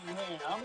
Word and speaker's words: Hamm: Well, it says here, John Hamm. Hamm, it's pronounced Ham.